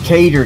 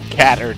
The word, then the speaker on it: cater: Cater Day, okay. Yes, everybody cater to me. Now quit it. Also appropriate. It pronounces it cater. Not catter day.